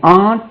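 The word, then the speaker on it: aren't: வி ஆர்ட் writing, we ஆர் writing, we ஆர்ட் writing.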